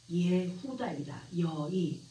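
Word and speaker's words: יהודה: 유다라고 하는 단어는 히브리식 발음으로 예후다이다. 예후다이며 헬라어식의 발음으로는 아우다스 그리고 뜻은 찬양하다, 감사하다, 신앙하다입니다.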